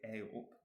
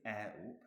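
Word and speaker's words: eh up: But when they say A-up, they don't say air-up and they don't say A-up. It's not like the A in day.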